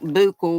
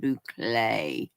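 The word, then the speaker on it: bouclé: or anything but Bay b o u c l e looks like bule but you pronounce it Bay yeah it is kind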